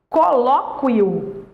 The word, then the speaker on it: colóquio: agora aqui você fala colóquio nesse caso o u não é pronunciado o u não é